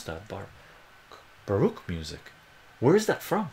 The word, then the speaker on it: Baroque: Listening to Baruch, like that of Bach and Vivaldi, has been shown to improve focus. Does it? How do you pronounce that? Baroque music.